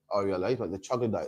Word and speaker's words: troglodyte: Well, how do you pronounce it? The troglodyte.